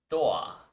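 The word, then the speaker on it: ドア: Doa, as it's pronounced in Japanese.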